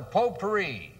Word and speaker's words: potpourri: move along now to potpourri how do you spell that t OT pou AR RI then it's pot pourri ah now the T is silent how's that well T